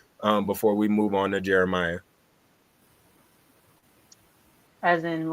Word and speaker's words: Geremiah: Yeah, it's Geremiah. It's the way it's spelled.